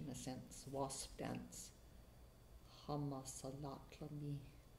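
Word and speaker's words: Hamasalatlami: a sense, wasp dance, hama salatlami, I think it might be pronounced like that.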